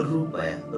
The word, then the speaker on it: रुपया: ठीक है, तो रुपया, रुपया में छोटा ऊ का उच्चारण हो रहा है, इसलिए छोटा ऊ की मात्रा लगेगी।